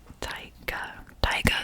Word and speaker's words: Tyga: is Girl You Loud by Chris Brown and Tyga is how you say her name. Tyga, yeah.